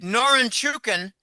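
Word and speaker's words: Norinchukin: bonds and Euro bonds noren chukin that's a hard one to pronounce quickly norin chukin Bank just posted a$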